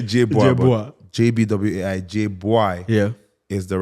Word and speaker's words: Jbwai: Jbwai is the right pronunciation.